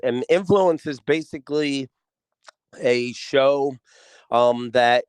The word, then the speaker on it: NFLNCD: It's called Influenced with a D. But it's spelt influenced with no vowels. Like if you took the word influenced and took out every single vowel, that's the name of the show. So it's NFLNCD, influence.